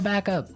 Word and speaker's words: backup: point out that here the pronunciation and stress of this phrase is really important hey yes yes you have to say backup Backup backup yeah so both words are stressed at about the same level hey mhm backup cuz